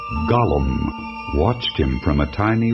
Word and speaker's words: Gollum: that my beloved BBC production gets wrong the pronunciation of Gollum a slimy creature called Gollum watched him from a tiny Rock Island in